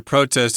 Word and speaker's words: protest: as a noun uh we also have the verb form protest but most Americans will pronounce these words the same whether they're a verb or a noun protest I'm going to